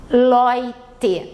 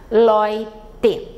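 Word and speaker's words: Leute: Lloyd uma substantivo plural significa as pessoas loite ué um a gente fala oi e o final sempre bem pronunciado loite e aí eu trago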